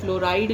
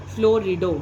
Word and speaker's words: fluorido: जैसे F negative है, फ्लोराइड नहीं बोलेंगे लिगेंड का नाम, फ्लोरिडो, स्पेलिंग ध्यान रखना, FLUORIDO, फ्लोरिडो, क्लोरिडो, ब्रोमिडो, आइडिडो, आयोडीन